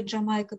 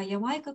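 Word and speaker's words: Jamaika: либо ямайка quality он али джамайка первоначального по английскому по правилам английского языка теперь уже они произносят по правилам немецкого языка ямайка колец и он по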